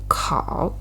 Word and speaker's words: 烤: And the right side, 烤, of word 考试, right, shows the pronunciation. Together, pronunciation is also 烤, and the meaning is toast, bake, or roast.